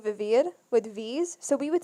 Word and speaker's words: vivir: And I was like, oh, she's saying vivir, but she's pronouncing it with a B.